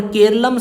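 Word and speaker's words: കേരളം: है, मतलब रियलिटी में मलयालम भाषा को केरलम बोलते हैं पर इंग्लिश में इसको केरला बोलते हैं, तो हम इंग्लिश प्रोनाउंसिएशन इसकी यूज़ कर रहे हैं।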